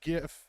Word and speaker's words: GIF: arguing today it's G GIF it's spelled with a G you pronounce it with a hard g wow we're using hard